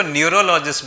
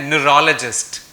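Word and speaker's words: neurologist: बहुत सारे लोग इसको न्यूरोलॉजिस्ट बोलते हैं लेकिन इसकी राइट प्रोनाउंसिएशन है न्यूरोलॉजिस्ट।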